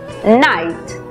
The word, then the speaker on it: night: La regla nos dice que para este caso la GH es muda y la I toma su sonido abierto.